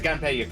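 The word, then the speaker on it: Gunpey: So, it's a Gunpay game.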